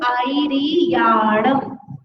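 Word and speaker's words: आयरियाणं: तो इसी तरह से यहाँ पर आईरियाणम, यह जो है उसको कैसे करना, लंबा खींचना।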